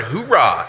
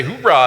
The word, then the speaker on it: hoorah: So if you ever heard a Marine barking like a dog, arr, that's actually a word, okay? That's the word hoorah, H-O-O-R-A-H.